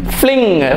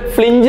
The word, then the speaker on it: fling: എൽ ഐ എൻ ജി ഫ്ലിങ് ഫ്ലിങ് എന്ന് പറഞ്ഞാൽ ചുഴറ്റി എഫ് എൽ ഐ എൻ ജി എഫ് എൽ ഐ എൻ ജി അതിന് എഫ് എൽ ഐ എൻ ജി ഇല്ല അതുകൊണ്ട് ഫ്ലിഞ്ച് എന്ന് വായിക്കരുത് സ്ലിങ് ഫ്ലിങ് എസ് എൽ ഐ